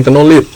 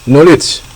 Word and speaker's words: knowledge: dengan outcome dimoderasi oleh satu bukan KN ingat ya knowledge knled bukan KN knowledgeledledledgeled Coba bilang knowledge jadi nanti kalau pas